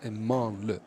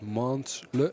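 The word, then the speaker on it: Mansle: That for some reason the French don't pronounce the S in man-le. So it's not mans-le, but it's man-le. Manla, okay.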